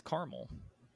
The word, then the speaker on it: caramel: I say crayon um the rest of my family says caramel and they're like no it's caramel well there is another a in it I'm not pronounced people people just ignore it it's kind of uh